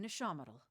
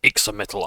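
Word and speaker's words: Ixamitl: and a gift-bearer in Ishamatal. Ishamatal. So Ixamittal I've been calling wrong all the time.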